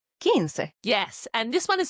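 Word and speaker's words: quince: tested and then we have 15 which is kins q u i n c e kins yes and this one is super important kins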